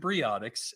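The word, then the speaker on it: Briotix: They pronounce it Briotics, and I do work for them.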